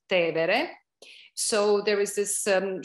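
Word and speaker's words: Tevere: cross to the river which we call in english tiber but in italian it's te vere so there is this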